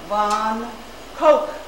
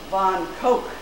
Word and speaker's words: Van Gogh: incidentally the encyclopedia notes the family name should be pronounced von koch but i will use the americanized version since we're more familiar with it but it's interesting that it should be von coke in 1880 after attempting